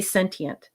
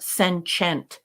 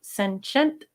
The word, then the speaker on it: sentient: can say sensient and you could say sentient but not sent there's no check mark or chew in sentient so senent or sentient but not